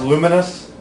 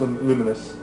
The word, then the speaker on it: Lumines: came out, it's pronounced Luminous, but spelled. I had a feeling I was going to make one of these lists tonight. But it's spelled Lumines for some reason. But it's pronounced Luminous.